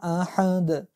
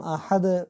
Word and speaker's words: أحد: بازم احد مثل احد اول وری، الف امزه است، باز یعنی الف مثل امزه تلفظ میشه، حی از وسط حلق تلفظ میشه، دال هم قلقله میشه و دمیج آیه ختم میشه.